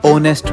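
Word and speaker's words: honest: Ma'am जैसे H letter, owner में, आर में, ओनेस्ट में। नहीं बेटा, इनको हम इग्नोर नहीं साइलेंट कंसीडर करते हैं।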